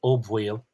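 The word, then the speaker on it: Ó Baoill: And if we go back to the standard form, O Bhaoil, it's not such a big jump from O Bhaoil to Boyle, I think. And that's my pronunciation, Boyle.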